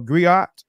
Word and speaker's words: griot: today right so a griot uh a griot is a unique West African um the griots are jelly professionals Encompass many roles the gri pronounced Grio have been referred to